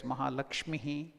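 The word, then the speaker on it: महालक्ष्मीः: That word combination, Visarga is pronounced as Lakshmihi, Visarga, or half of it Lakshmi. You can't pronounce it because half letter Lakshmi, that's all. But to make it easily heard, we will add a little Lakshmihi.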